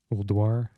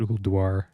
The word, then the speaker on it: Ulduar: I'm supposed to call it Ulduar. Got to pronounce the U.